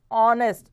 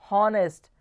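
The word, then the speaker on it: honest: इज एन ऑनेस्ट मैन इट्स ऑनेस्ट नॉट नेस्ट ह का sound नहीं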